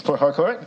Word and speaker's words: Port Harcourt: I'm trying to get good on my pronunciation because I understand I put a bit more emphasis on the R than most do here. It's Port Harcourt in Ezekiel State.